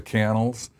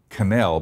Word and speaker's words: Cannell: interesting because the name looks like it should be canal because of the way it's spelled with two L's but it is actually pronounced candle and most of the